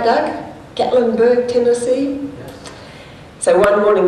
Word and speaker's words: Gatlinburg: Gatlinburg, is that say it right, Doug? Gatlinburg, Tennessee?